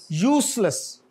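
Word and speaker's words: useless: यूसलेस, नॉट जेड बट एस, यूसलेस।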